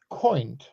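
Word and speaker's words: coynte: It is actually pronounced coint, C-O-Y-N-T-E, and it means the head of a carp.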